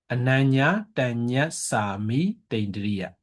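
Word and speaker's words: anaññātaññassāmītindriya: So this one, ananya tanya sami tindriya. Yeah. Ananya tanya sami tindriya.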